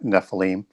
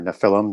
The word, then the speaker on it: Nephilim: So the giants show up before the flood, and that's where we first encounter the term Nephilim, or Nephilim, depending on how you want to pronounce that.